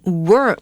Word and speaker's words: worm: Worm 它是虫虫的意思，那发音的地方要注意哦，它中间的 OR 我们念作的声音 worm，那这个是美式的发音，那如果要听英式的 Seb, give me that British accent.